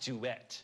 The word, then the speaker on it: duet: It's pronounced duet.